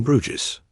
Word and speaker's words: Bruges: Bruges, before it was forgotten Bruges, pronounced Bruges, began not as a capital or a citadel, but as a small fishing settlement in the early Middle Ages.